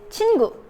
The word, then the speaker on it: 친구: The most common way to say it is 친구.